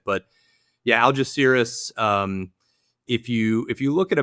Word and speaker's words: Algeciras: Well, there's two ways to pronounce it. There is the way I pronounce it, which is Algeciras, and then there's the proper Spanish way, which I probably still wouldn't be able to say, but I don't have the good Spanish accent.